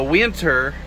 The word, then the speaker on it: Whyntr: But so is the winter. It's spelled WHYNTR.